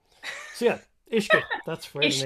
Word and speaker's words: uisce: So yeah, Ishka. That's where the name comes from. We like Ishka.